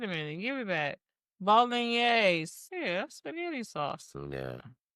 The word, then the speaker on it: bolognese: Bolognese. That's what it looked like to me, not bolognese. It's pronounced bolognese. That's crazy. Okay, it makes sense. It's like a meat. The E is like an A.